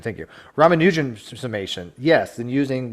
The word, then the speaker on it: Ramanujan: R the Ragan I think his name is pronounced ramuan thank you ramanujan summation yes then using 1 plus 2 plus